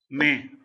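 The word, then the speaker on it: mais: May. New word for today. May. May. S is silent. Okay. And the rules for silent and consonant you will learn today. Okay. May. Same as May in calendar.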